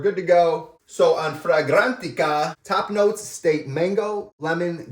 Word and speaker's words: Fragrantica: Let's go over the notes, and I just read them, but let's take from Fragnatica.